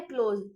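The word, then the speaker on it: close: होता है बंद करना याद रहे कि ये ज है एस ई ज का प्रोनंसिएशन होता है ना कि ज का बहुत लोग इसे क्लोज बोलते हैं वो क्लोज नहीं क्लोज होता है बंद करना क्लोज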